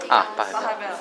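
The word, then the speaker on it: Pachelbel: Pachabel? Pachabel. Oh, that's how you pronounce it?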